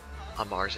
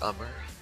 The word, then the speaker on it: Umar: call the space on Amar's account, or Umar. That's actually how you pronounce it. It's Umar the Hummer.